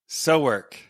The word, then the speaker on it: SoWork: And so how do you pronounce it? It's called? SoWork. SoWork.